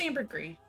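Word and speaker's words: ambergris: It's It's pronounced amberree. Amber. I was going to say I've heard both ways, but I've always assumed it was amberree.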